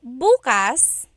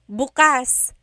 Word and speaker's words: bukas: If you say buas emphasis is on the first syllable that means tomorrow.